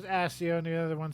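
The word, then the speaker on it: Accio: And so in my head, I'm always Aio. And then as I'm reading, I pronounce it AO. So I mean the double C, I'm like, "Yeah, AO." When I see the double C. How does Jim Dale? He says he says AIO, right?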